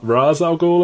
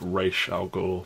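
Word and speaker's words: Ra's al Ghul: by re alul uh pronounced ra Raz alul in the films but I am king of nerds so I will be using the authentic R alol while Mike wants to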